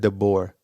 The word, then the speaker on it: DeBoer: AJ it's like this say it like this like you're bored like it's theor so Kaylin dor oh dor yeah dor I've been saying de all this time yeah no he's not French yeah the boor okay